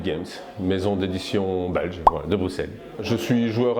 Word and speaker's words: Bruxelles: jeu, qui s'appelle toujours Bruxelles 1893. Je le prononce à la belge.